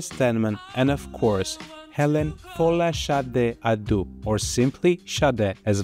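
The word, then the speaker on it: Folasade: My true Nigerian name, or the true Nigerian pronunciation, or as close as I can get to it, is Fola Sade, which means crown and glory.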